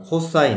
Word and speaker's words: cos: 그래서 sin인 a 그다음에 cos 코사인이라고 는다고 코사인 a tan 탄젠트라고 읽어.